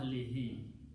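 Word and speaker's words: أهله: And for easy pronunciation, same thing, we pronounce this he also. Ila ahlihi. And that's the word in the Quran.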